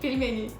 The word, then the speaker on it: пельмени: Can you pronounce? Pelmeni? Pelmeni.